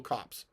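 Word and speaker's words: copse: walking towards the little Cops upon this uh that is cop e it's a small stand of trees it is not the Boston pronunciation of a dead body okay just so you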